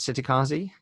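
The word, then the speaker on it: Cittàgazze: you even pronounce it city Kazi I put it an Italian soft C with the chest sound it because I like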